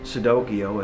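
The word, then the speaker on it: Cicidokio: children's fairy tales like sudokiyo as opposed to pinocchio and instead of and not it's spelt c-i-c-i-d-o-k-i-o even though it's pronounced like with an s but it's actually with the c and it's it's like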